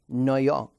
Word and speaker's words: Noyon: Noyon? Noyon. Okay. I can't pronounce it after she pronounces it.